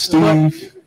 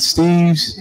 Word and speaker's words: Steve: My last name is Steve. Not Steve's. It's Steve. Let's be respectful of each other, please. That's how you properly pronounce my name.